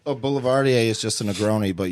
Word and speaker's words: boulevardier: the name of it the way you spell it it's just hold M just a little closer it's just the word Boulevard and you just put an ier at the end it's French whoa um so everybody